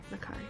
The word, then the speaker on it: Nakai: Nakai there we go sorry I got to remember that with the Japanese names um you got to stress out the first you got to stress out the first syllable and every other in every other syllable after that his eyes light up